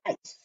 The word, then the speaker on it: ice: Top of your paper right now, I want you to write the word ice. Ice is spelled like this, I-C-E. It's kind of a tricky spelling. In that word, C-E says S.